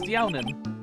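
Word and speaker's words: Deauxnim: What the heck is that last name? Downim? Youtsnim? I'm pretty sure it's probably pronounced the first way around. Downim? Elise Downim.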